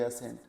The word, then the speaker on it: ascent: जैसे ASSENT असेंट और ASCENT असेंट। अब स्पेलिंग हल्की सी वैरी कर रही है लेकिन प्रोनाउंसिएशन दोनों का बिल्कुल सेम है, असेंट असेंट।